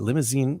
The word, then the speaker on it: Limousin: because it's spelled limousine Limousine? without the E at the- Limousine? yeah, it's Limousine?